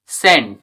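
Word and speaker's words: scent: For example S সি আই এন সিই সাইন্স এরকমভাবে এস সিই এনই সিন এখানে কিন্তু সি এর উচ্চারণ হচ্ছে না। তারপরে এস সি I double S ও আর এস সিজারস সিজারস এরকমভাবে এস সি ই এন টি সেন্ড এখানে কিন্তু সি এর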